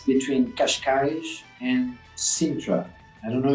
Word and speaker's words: Cascais: I'm going to have a much harder time pronouncing the Gracie Barra school you're from. Is it Cascais, is it? Cascais. Cascais, which is just outside Lisbon in Portugal, right?